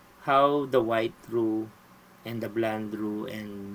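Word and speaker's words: roux: So pronounce as r o. So row, ang example niya is a flower plus fat.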